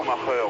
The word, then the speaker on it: Schumacher: Schumacher, oui, comme on le dit depuis la Coupe du Monde de football, de grande mémoire en France.